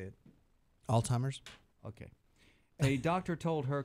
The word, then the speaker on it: Alzheimer's: time Al's huh how do you say it Alzheimer's okay hey doctor told her quote Robin was